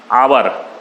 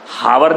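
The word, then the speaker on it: hour: वह साइलेंट होता है एच के बाद में आती बोलने में जैसे कांटेस्ट आवर हार नहीं बोलते आप और बोलते हैं ठीक है ना ऑनरेबल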